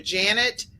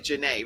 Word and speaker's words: Janet: Janet Bishop, for those of you that are the audio listeners, Dr. Janet Bishop but it's really Janae, right?